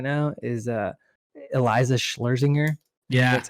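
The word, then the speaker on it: Schlesinger: favorite female comics right now is uh eliza schlerzinger yeah that's how you say her name yeah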